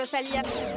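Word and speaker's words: Rosalía: Ça se prononce rosa. Lia avec un accent sur le i.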